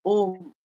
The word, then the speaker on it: ओम: उत्पन्न हुई और उस ध्वनि की आवाज थी अ उ म यानी जिसको संयुक्त मतलब पूरा मिला दिया जाए अगर तो होता है ओम और इसीलिए ओम का